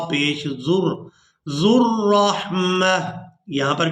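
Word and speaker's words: ذو الرحمة: अब यहाँ पर अक्सर लोग वाव को अदा करने की कोशिश करते हैं। यहाँ पर जो आप लोग वाव देख रहे हैं ये वाव साइलेंट ही रहेगी, इसको अदा नहीं करेंगे।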